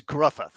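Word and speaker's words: Gruffudd: whatever first of all Graff or Graff however you say his name I think he was pretty good it's uh it's gruffi gruffi gruffi okay I thought he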